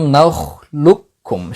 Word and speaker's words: نخلقكم: তো আপনি যদি প্রথম কাফটাকে সম্পূর্ণরূপে দ্বিতীয় কাফে আদগাম করেন তাহলে প্রথম কাফের উচ্চারণটা আসবে না। বরং সরাসরি আলাম নাখলুকুম এই লামটা সরাসরি দ্বিতীয় কাফের সাথে যুক্ত হবে। আলাম নালুকুম সরাসরি লাম দ্বিতীয় কাফের সাথে গিয়ে যুক্ত হবে।